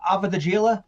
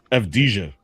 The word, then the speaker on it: Avdija: Avadijila. How do you say it? I think it was Avdija. Okay, there you go. Avdija or Avdija. I was way off.